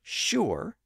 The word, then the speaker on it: sure: sh sound today and that's also why the word sure s is pronounced in a similar way with a sh sound at the front initially they would have been